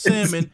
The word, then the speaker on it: salmon: crazy salmon yeah salmon it's salmon but there's an L in it you know news gotta